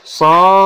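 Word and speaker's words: صَافَّاتٍ: Maka ini dibaca panjangnya 6 harokat, 6 ketukan ya, panjang jadinya. Saffatin wa yaqbidun. Nah, begitu bacanya jadinya. Dipanjangkan dulu 6 harokat. Saffa gitu. Nah, demikian teman-teman.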